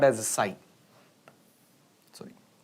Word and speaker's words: psi: So this is called as a psi. Sorry. How to pronounce that one? P is silent.